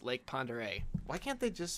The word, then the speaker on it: Pend Oreille: See, it looks like it's Pend Oriel, but it's not. It's like Lake Pend Oreille. That's really how it's pronounced, Lake Pend Oreille.